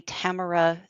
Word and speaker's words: Tamara: it is intended to be Tamara, 3 syllables.